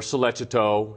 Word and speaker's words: Sollecito: Amanda Knox and Raffaele Sollecito or soleta toe even though it's spelled solecito that the the case